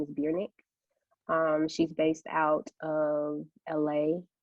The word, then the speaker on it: Bjrnck: Her name is Biernick.